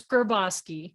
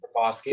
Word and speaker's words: Griboski: It's Griboski. Griboski.